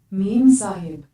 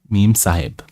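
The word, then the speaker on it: Memsahib: Meme Sahib. Meme Sahib. Yeah, it's an Indian name. It's called Meme Sahib. Sahib with an H. Because the meme Sahib would be angry if she was disturbed, if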